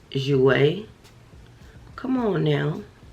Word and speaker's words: Jouer: i know it's it looks different but it's pronounced jouer come on now it's pronounced jouer it's essential lip enhancer and since i just